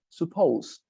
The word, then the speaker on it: supposed: say this yes exactly you pronounce the the word suppose but at the end you add a very subtle the supposed supposed yeah exactly very